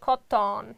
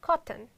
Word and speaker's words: cotton: I'm not pronounced like cotton. Yes, it's totally wrong. You should pronounce like cotton or lesson.